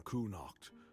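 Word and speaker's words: Cuanacht: Poor rebels from Kunach. Although at this point um it's pronounced quan the same.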